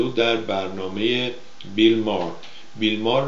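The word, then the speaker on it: Bill Maher: بیل مار رو هم اگه مثل ایرانی میخوایم تلفظ کنیم میشه بیل ماهر، MAHER، بیل مار اینجا میگن.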